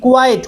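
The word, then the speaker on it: quiet: বা পর্যাপ্ত, আর একটা কিন্তু কোয়াইট একই রকম উচ্চারণ হয়, কিউ ইউ আই ইটি, কোয়াইট।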